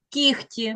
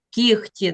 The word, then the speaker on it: кігті: інш да писати треба Наприклад кігті треба писати х кігті треба писати г а ми чуємо от ви мовте вогко вогко михтить кіхті михтить кіхті Так ми вимовляємо Ми чуємо х Ми вимовляємо що типа кота кіхті але ми пишемо г г а треба писати г